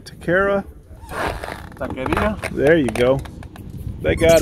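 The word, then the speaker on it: taquería: Yeah, you know, it's our last day here, and that Juanita's, Takira? Taqueria?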